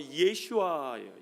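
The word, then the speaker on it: ישועה: 그 구원에 해당하는 단어가 그게 히브리 발음으로 예슈아예요.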